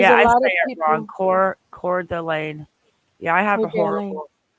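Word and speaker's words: Coeur d'Alene: lot of people Encore core delayed yeah I have a horrible chest and head cold too because core I'm blind too core Delane thank you now I know how to say it I'm sure I'll mess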